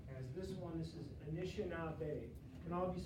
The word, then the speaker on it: Anishinaabe: This is Anishinaabe. Can all of you say Anishinaabe? Anishinaabe.